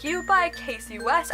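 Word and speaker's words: Kasie: Then we have PSI Like You by Casey West. I'm pronouncing her name Cassie West. I need to stop that, because I did that at the beginning, and then I found her name was Casey, and I still keep pronouncing her name that way.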